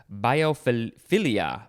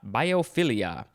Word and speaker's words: biophilia: and biopharmaceutical is an adjective next we have biophilia biophilia b-i-o-p-h-i-l-i-a noun you could also pronounce it uh biophilia biophilia no biofilia or